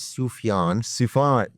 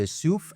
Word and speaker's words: Soufiane: The way to pronounce my name is Soufiane. Soufiane. The way I tell people to pronounce it is soup with an F, so souf, and then yawn.